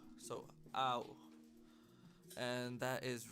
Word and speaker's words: 青: 青、 So ow. That's that A sound in the beginning and the O. So ow.